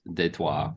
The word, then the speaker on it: Detroit: it up there uh well I mean you may pronounce it as Detroit um it's just it's typically Detroit but if you're from France de trois or Quebec that's what I think I think Detroit is a French word doesn't it mean uh